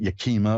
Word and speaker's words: Yakima: Karen in Yakima, Washington. Hi, you're on with Reverend Elliot. Hi, Elliot. Hi, did I pronounce that right, Yakima?